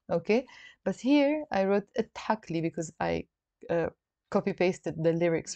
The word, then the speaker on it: تحكلي: Okay, but here I wrote تحكلي because I copy-pasted the lyrics from somewhere, but in the Lebanese dialect we will not pronounce the alif.